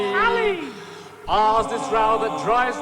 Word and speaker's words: Halley: H is Halley, which I'm told should rhyme with Polly. Halley.